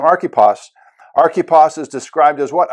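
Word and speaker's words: Archippus: I looked up the pronunciation of this guy's name, Archippos.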